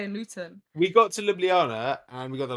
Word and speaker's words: Ljubljana: We got to Liblana and we got there like midnight and I was like, "Oh, let me show you a bit of Ljubljana."